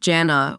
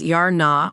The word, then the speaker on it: Jana: Janet or Jana where the J is pronounced like the J in George but with a harder Edge this is consistent with